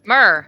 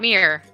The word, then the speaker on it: myrrh: like all three times so myrrh It's Not Mere it's not it's not Meyer oh the the talk